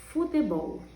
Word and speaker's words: futebol: Por exemplo, nessa palavra, futebol. Qual é a sílaba tônica? Ó, futebol. Bol é a sílaba mais forte.